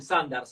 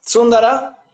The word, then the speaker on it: Sundar: hay algunos, cuando ven Sundar, agarran y dicen Sandar, tipo Sandercat, es Sundar, ya se claro. pronuncia, la U se pronuncia como U en Se sánscrito. pronuncia como U. Sundar, Sundara, depende.